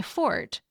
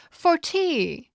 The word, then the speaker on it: forte: Or is that grammar is my fort? Or if you're British, it might be your forte.